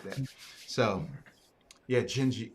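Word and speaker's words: Dindi: like that so yeah gingy genji she yeah and it's where it's spelled d-i-n-d-i right portuguese it's the d-is which is why i didn't say the name yeah i don't know like yeah the next song i'm gonna listen to is dindy even musicians they all say dindy and you know until i correct them hey can you sing dindy like that's not even how you say it so you know so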